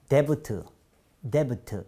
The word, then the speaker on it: debt: 보시면, D-E-B-T 그러면서 debt 이렇게 발음하시는 분이 많은데요. 그냥 that 발음하지 않습니다. 철자에 없으면 발음기 없으면 철자는 절대 발음하시면 안 됩니다.